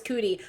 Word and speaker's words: Cootie: But she called him Cody, and then Kanye was like, "No, it's Cootie. I know I said Cody. That was wrong. It's Cootie."